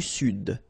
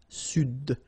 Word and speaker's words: sud: L'Amérique du Sud, here you should pronounce the D, sud, sud, okay?